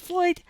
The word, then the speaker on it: Lloyd: Well, technically, it's a Welsh name and should be pronounced the two L's like an F, so technically it should be pronounced Floyd.